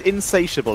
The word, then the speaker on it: insatiable: do you pronounce it it is insatiable as in cannot be satiated damn it I guess